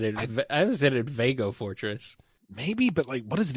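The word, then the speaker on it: Veg-O-Fortress: The Eggo Fortress, like egg, or Veg-O Fortress, like vegetable? I must know. That's how I always pronounced it. Veg-O Fortress? Yeah. I always said it Vago Fortress.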